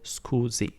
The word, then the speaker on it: scusi: It's pronounced scusa, scusa, or scusi. If you want to make it polite, you basically substitute the letter A with the letter I, and it becomes scusi, and that makes it more polite.